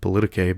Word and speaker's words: politique: It's spelled politique, but it's actually pronounced politique.